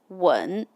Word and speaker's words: 吻: If I'm using the fourth tone, it is 问. It means ask. 我可以问你吗 means may I ask you? But if I change the tone to the third, it becomes 吻.